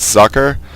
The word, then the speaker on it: Socke: And now it looks like Socke, and in fact it is German for sock, but it's pronounced Socke.